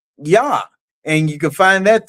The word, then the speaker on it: Yah: But, one thing that everybody agrees on is that first part of the name, Yah.